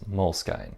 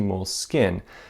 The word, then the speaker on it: Moleskine: I called it Moleskine. To me, that just seemed phonetic. That was how the word looked to me, was Moleskine. But a lot of you respectfully, or not so respectfully, disagreed. But the thing is, my commenters also disagreed with each other on how to pronounce Moleskine.